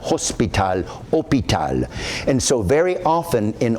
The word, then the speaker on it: hôpital: You do not pronounce an H at the beginning of the word.